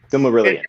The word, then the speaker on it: Silmarillion: Silmarillion, yeah.